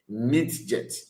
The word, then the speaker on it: midget: Now let's let's check what Migette actually means.